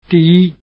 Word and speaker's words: 第: First, the word for number, in the sense of number one, is di, with a falling tone.